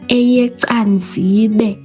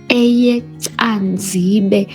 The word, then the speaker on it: EyeCanzibe: So May, eyecanzibe. Eyecanzibe. So the C is pronounced as a again, your tongue must kiss the palate. Eyecanzibe.